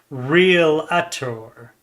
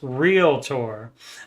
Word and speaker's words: realtor: Now, see, when you see that word realtor, it does not have an A after the L, so it's not realtor.